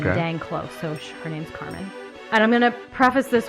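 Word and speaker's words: Karmien: I watched it sounded like her mom was pronouncing it Carmen or something dang close so her name's Carmen and I'm gonna preface this one by saying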